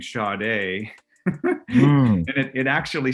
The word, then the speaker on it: Sade: the back of it, it said, pronounced Sade. It said SHAR-DAY.